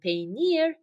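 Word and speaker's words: peynir: say cheese in Turkish pay me you have to pay meal for the cheese so paner is the same as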